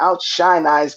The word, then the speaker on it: OutSHINEize: or this show is out shine eyes is that how you say it that's correct how certain eyes the